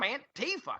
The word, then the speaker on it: Antifa: I don't want to be on a beach beating up some anti-fa. And they need a better name. Can we give them a nickname? We should have a contest. It's actually pronounced Antifa.